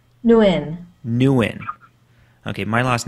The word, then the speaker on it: Nguyen: how do you say your last name nguyen nuen okay my last name is horrible anyway so